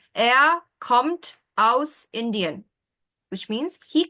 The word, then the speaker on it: kommt: Almost. There's no S there. It's simply T. Er kommt.